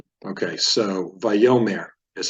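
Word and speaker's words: וַיֹּאמֶר: syllable right okay so vayomer is how you would pronounce this word the stress is placed right here in the second syllable if the diet critical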